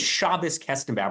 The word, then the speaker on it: Shabbos Kestenbaum: First of all, my name is Shabbos Kestenbaum. Learn how to pronounce it.